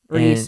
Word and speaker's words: Rhys: Reese, I'm pretty sure it's Reese. Reese, it's spelled so incredibly That's hard. how you spell Reese.